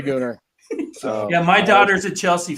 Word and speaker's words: Gooner: shut up so and that's pronounced goar by the way not Gunner yes yes it is a gooner yeah my daughter's a